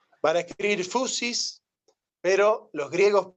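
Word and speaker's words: φύσις: la fusis Ah mal pronunciado fusis y mal pronunciado fisis así sin más es fusis bueno Son detalles que en un curso de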